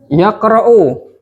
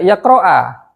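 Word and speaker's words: يقرأ: Ketika antum nggak dapati harokat seperti ini, bacanya apa berarti? Yaqra'u. Tuduh marfu langsung. Jangan bingung dibaca yaqra'a atau yaqra'i, apalagi lebih salah. Atau yaqra. Langsung kita baca dhammah.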